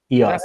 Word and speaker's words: EOS: find EOS project EOS rise EOS is it pronounced EOS EOS yeah okay does that stand for something num